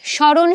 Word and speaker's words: স্মরণ: তো এই শব্দের শুরুতে যখন ম ফলা থাকে তখন আমরা সেই ম ফলাটাকে উচ্চারণ করি না। তাহলে শব্দের শুরুতে ম ফলা থাকলে কি হয় না? শব্দের শুরুর ওই ম ফলাটা উচ্চারণ হয় না।